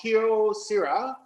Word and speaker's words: Kyocera: a japanese manufactured called kyo sira and it's pronounced how it sounds kyo for kyoto sira ceramics corporation of japan uh they